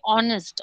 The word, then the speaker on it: honest: In the same way, honest. Honest, we don't say honest. H is silent. The sound is like a O.